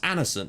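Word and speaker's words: Andersen: Kovacic, Saville, Reeves, Frankham, Toure, Grandison, and apparently it's pronounced Anderson. Apparently the D is silent, or not silent, but just doesn't get pronounced.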